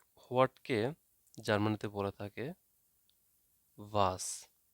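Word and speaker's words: was: তো হোয়াটকে জার্মানিতে বলে থাকে ভাস। তো আপনারা হয়তো অনেকে জানেন না যে এখানে ডাব্লিউকে এখানে ভি উচ্চারণ করা হয়। ডাব্লিউকে ভি উচ্চারণ করা হয়, তার মানে এটা হবে ভাস।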